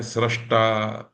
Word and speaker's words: सृष्टा: तो देखिए उदाहरण, सृष्टा, सृज धातु का रूप है सृष्टा, सृष्टुम, सृष्टव्यम। दृश धातु का दृष्टा, द्रष्टुम, द्रष्टव्यम। यहां सृज धातु का श्री नहीं है, स्र है। ये संस्कृत का शुद्ध उच्चारण है।